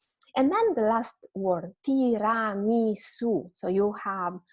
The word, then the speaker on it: tiramisu: You don't say tiramisu, right? It's tiramisu. So the letter U doesn't have a U sound that you might use in English, but it's always simple U.